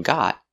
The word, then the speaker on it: got: I got a tan and the T in got changes to a fast D got got got tan